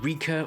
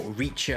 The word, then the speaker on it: Richa: This is the Rika, or Richa, however you'd like to pronounce it, the Rika Daytona leather motorcycle jacket.